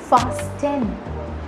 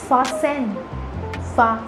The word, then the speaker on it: fasten: or to lock anything now if you say fast 10 you're wrong this is not fasting this is farsen for example the tunic